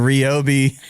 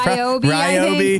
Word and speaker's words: Ryobi: Yeah, so you can recover after I dumped all over your Ryobi. I'm not even saying it right, I don't think. It's Ryobi.